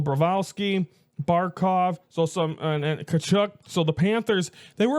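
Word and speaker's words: Tkachuk: Bravowski and then uh and then Barov and Kachuk. I believe it there's not the T is not I believe the T is silent.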